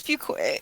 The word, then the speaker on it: Fuquay: Yeah, it's Fuquay.